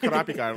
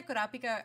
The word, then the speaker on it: Kurapika: at the Kurapika arc, and also I would like to say that everybody that I know who understands how to roll your R in Spanish don't have a problem saying Kurapika, whereas like everybody else that I know usually do.